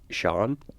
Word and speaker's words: Seeen: different oh yeah like no it's actually s e e e e n kind of like seen cuz I'm trying to